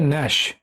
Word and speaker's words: gnash: এখানেও জি এর উচ্চারণটা হবে না, এর উচ্চারণ হবে ন্যাশ, দন্ত নয় জফলাকার দন্ত স, ন্যাশ।